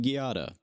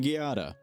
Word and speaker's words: Giada: get into it so Arrington Giada I'm gonna use the hard G for consistency reasons um they are a